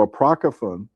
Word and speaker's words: Apocrypha: Apocro, am I pronouncing that? Apocon of that sounds right. Yeah. So, Apocryphan or whatever means Apocrypha.